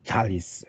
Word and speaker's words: Thales: have to start from the fallis theorem or talis fear them to use more greek sounding pronunciation you may know this